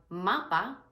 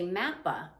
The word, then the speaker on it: mapa: So when you have mapa, for example, you pronounce it ma-pa. That A sound does not change. A lot of times in English, we might say mappa because we have 2 different A sounds.